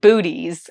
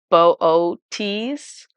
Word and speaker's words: Boötes: this guy and um that's not how you pronounce it because it's got two little dots over one of the O's um so it's pronounced booties I think I said